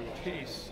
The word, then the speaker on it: Appice: here I'm with Vinnie apacy my brother says in peace change is the pronunciation to a piece in 1976 and ever